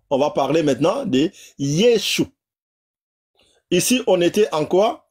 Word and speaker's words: Yeshua: Au lieu de Yoshua, Yeshua, Yeshua.